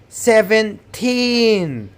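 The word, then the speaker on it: seventeen: The same thing to 17. 17. Put the stress on teen.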